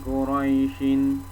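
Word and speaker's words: قريش: Di sini kan li'ilafi Quraisyin. Ketika diwaqaf atau berhenti di sini, maka shinnya ini jangan dibaca barisnya ini, tapi shinnya ini jadi sukun. Jadi bacanya li'ilafi Quraisy.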